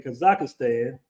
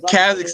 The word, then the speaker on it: Kazakhstan: I got married in kazakistan did I pronounce that right Danny Kaz Kazakhstan man Kazakhstan Kazakhstan I got married